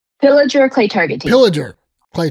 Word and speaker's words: Pillager: is again, because I always screw up the pronunciation. Pillager Clay Target Team.